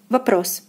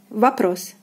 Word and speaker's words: вопрос: we pronounce it as вопрос, вопрос, вопрос. So the first O is unstressed and is pronounced as A.